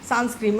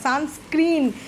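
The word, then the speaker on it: sunscreen: meeting আসে মানে প্রথম প্রথম দেখেছি আমি কি উচ্চারণ করলে সানস্ক্রিম আমি কোথা থেকে শিখেছো সানস্ক্রিম বলে কোন কোথা থেকে শিখেছো তখন চুপ করে থাকে আমি সানস্ক্রিন নয় সানস্ক্রিন একটা পর্দা একটা কার্টেন আমরা দিয়ে দিলাম আমাদের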